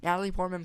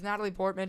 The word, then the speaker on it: Natalie Portman: too her characters play Natalie pman play such a good pamy amadala um I didn't even say it right it's Natalie Portman she plays such a